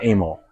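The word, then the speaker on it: Amil's: So it looks like a but he was uh Serbian and he pronounced it amal.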